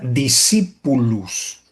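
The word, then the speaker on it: discipulus: La palabra discípulo proviene, es un término latín, proviene del latín y eh se pronuncia discípulus y su significado es alumno o aprendiz.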